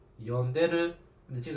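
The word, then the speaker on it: 呼んでる: See how I just changed the stress of the syllables? It changes the meaning.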